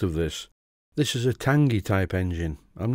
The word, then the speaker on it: Tangye: be looked into meanwhile I will Muse on the pronunciation of the name of this engine and why it's called that it's called a Tangi engine because it's of a